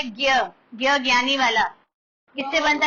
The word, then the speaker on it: ज्ञ: लिखा जा रहा है, सिर्फ एक ज्ञ ऐसा होता है जिसकी प्रोनाउंसिएशन अलग हो जाती है।